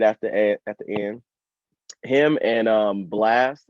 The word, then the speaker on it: Blxst: Him and Blast, it's spelled BLXST.